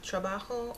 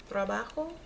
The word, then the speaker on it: trabajo: Okay, so this candle, it is a trabajo or job candle, or if you want me to pronounce it correctly, trabajo. So this is if you're having issues getting a job, keeping steady work.